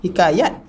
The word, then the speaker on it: hikayat: Ada sebahagian bacaan bahasa Arab juga ta itu apabila dia tak marbutah, apabila disukun baca dengan ta, hikayat. Orang Melayu kita ni ambil salah satu daripada cara bacaan tu. Kita kata hikayat.